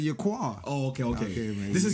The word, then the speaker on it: Yaqar: Because people be calling me your car instead of your quar.